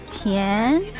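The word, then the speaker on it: 甜: take a picture and everyone goes can because the way you say it like tien makes you smile that's so cute i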